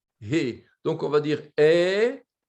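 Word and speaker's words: איכה: Donc, on va dire Eicha. En principe, on ne doit pas prononcer le Yod. Bon, ce n'est pas une erreur si on dit Eicha.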